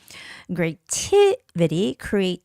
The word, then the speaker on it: creativity: Creativity, the stress is on I, the first I, creativity.